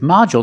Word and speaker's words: module: this word module with module the stress is on the first syllable so the second syllable is short modu and we see the D makes the J sound like juice and jump